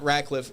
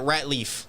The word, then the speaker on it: Ratliff: that was it's it's it's not rackliff it's a common thing yeah it the way I to that think think like rat Leaf like that's what my